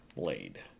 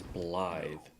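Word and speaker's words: Blaidd: blide I it's funny it's spelled blade bigy l a i d d right blade but it's enunciated as blide this is where it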